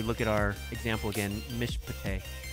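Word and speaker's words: מִשְׁפָּט: So if we look at our example again, Mishpate. Mishpate. The first one, Mish, silent, not pronounced. The second one, huh, so real short I sound.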